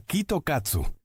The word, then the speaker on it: Kit Kat: Los estudiantes japoneses tienen una tradición que consiste en llevar chocolates Kit Kat cuando hacen un examen debido a que se pronuncia Kitokatsu, que en japonés significa victoria segura.